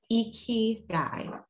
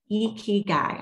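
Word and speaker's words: ikigai: as smoking in okinawa they call it i wrote this down icky guy e ki guy i had to watch a ted talk to see how to pronounce that but that is how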